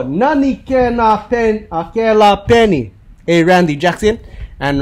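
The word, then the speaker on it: kēlā: All right, and now we have the last one, ke la. The la stands for fa. Ho, la for la, rhymes with fa, ho, the baga stay fa.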